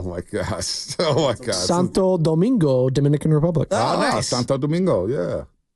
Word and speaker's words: Santo Domingo: a second I want to make sure we pronounce it correctly oh my gosh oh my go Santo Domingo Dominican Republic Santo Domingo yeah heard that place